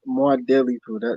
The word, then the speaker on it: Mwadifu: No, more deli food. That's how you say it.